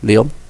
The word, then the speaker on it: Lyon: I'm getting better with these French pronunciations. Lyon.